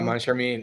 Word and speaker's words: Moncharmin: I'm not even going to try to pronounce this guy's name. Moncharmin? Oh, Moncharmin, yeah.